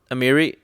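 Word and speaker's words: Emeria: block dude oh um emerical was on there ameria the sky ruin amiri is that how you pronounce it yeah yeah the skyrim i want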